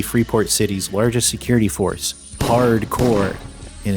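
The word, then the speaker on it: HardCorps: Rusty is the commander of the Freeport City's largest security force, Hardcore, and it's spelt like corpse, but you know, like because it's military, you actually pronounce it as core.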